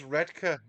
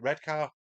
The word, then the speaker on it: Redcar: It is Redka, yeah. That's how it's pronounced. Because they were always taking the piss out of me for calling it Redcar. But it's spelt Redcar.